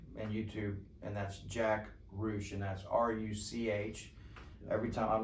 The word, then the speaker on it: Ruch: i see him i ask him how to pronounce his last name it's rouge yeah it's rouge it's rouge it's r-u-c-h okay yeah and so